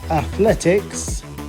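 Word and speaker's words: atletik: The word for athletics is athletic. Athletic. So that's fairly similar to the English word, but the spelling's different and the pronunciation is slightly different too.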